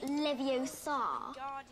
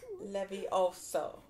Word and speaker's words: Leviosa: You're saying it wrong. It's Leviosa, not Leviosa. Leviosa.